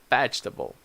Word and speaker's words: vegetable: that's not correct that in English we have different stress so we say Hotel comfortable vegetable so this is one